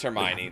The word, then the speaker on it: Hermione: Nah, it was Hermione. That's how that name is pronounced.